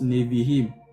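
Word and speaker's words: נביאים: Donc ça se prononce Nevihim.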